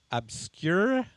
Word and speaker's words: Obscurae: Magazine UK, Phoenix Magazine, Phoenix Home and Garden, Obscurae, did I say it right? Yes. See, I asked 3 times and I still wasn't sure. Obscurae Magazine in Hong Kong, and Veux Magazine in Toronto, amongst others.